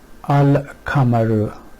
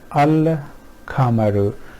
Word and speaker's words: القمر: from each other and it becomes easy to pronounce them. So al-kamaru, al-kamaru.